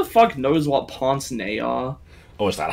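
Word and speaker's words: pince-nez: __ ] knows what ponce nay are oh is that how you pronounce that yeah i looked it up it's french it's like poisony yeah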